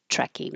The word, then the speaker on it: trekking: Went trekking, only one T sound. Just hold the first one and release the airflow on trekking.